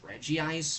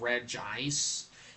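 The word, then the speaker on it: Regice: I know some people pronounce it as reggie ice, but it's really more so of re ice because if it would have been reggi ice, there would be two eyes instead of one.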